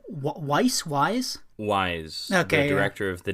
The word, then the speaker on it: Wise: Wise.